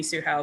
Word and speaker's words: Tzu-Hao: And actually, on that subject, so the way I pronounce my name in English, Tzu-Hao, that's actually an anglicized pronunciation. Like the actual name in Mandarin is Tzu-Hao. So Hao aside, Zi is not a sound that exists in English.